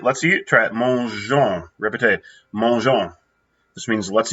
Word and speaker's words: mangeons: Mangeons. Répétez, mangeons. This means let's eat. Now, let me remind everybody, we have the G-E-O-N-S. You have to have the E to keep that soft G there.